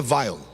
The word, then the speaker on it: Weil: importante chamado Felix Weil, ou como alguns pronunciam, Felix Weil, mas no alemão é Weil.